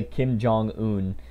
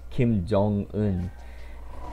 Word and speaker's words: Kim Jeong-hoon: him Jung on yeah people say kim jong hoon but it's kim jeong-hoon and I understand why people mess that up but Sachin is not